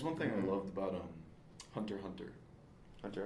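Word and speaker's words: Hunter × Hunter: That's one thing I loved about Hunter x Hunter. Hunter X Hunter X Hunter. This you're not supposed to pronounce the X.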